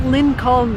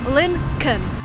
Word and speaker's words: Lincoln: what I'm saying here it's not Lynn calm the way it's written there is an L before n when you actually pronounce if you say Lincoln the second thing